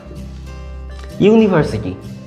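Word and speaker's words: university: এবার যদি দ্বিতীয় নিয়মটার দিকে দেখি, অর্থাৎ ভাওয়েল দিয়ে উচ্চারণ শুরু হচ্ছে কিন্তু তার আগে এ বসবে, সেক্ষেত্রে ইউনিভার্সিটি, ভালো করে দেখুন এর উচ্চারণ হচ্ছে নিভার্সিটি।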